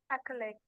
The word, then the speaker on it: accolade: That word is Accolade. accolade. Accolade. Accolade. Praise and approval. Yes, accolade. I have said duh, not t.